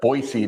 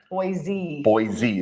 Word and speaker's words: Boise: By the way, I learned last year when I was down there that folks from Boise pronounce it Boise, not like Boise.